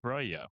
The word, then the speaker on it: Breuil: is Saint Fiacre of Breuil. And that's a a town or a commune in France. I believe I'm pronouncing that right, according to Google, but the spelling definitely does not look like that.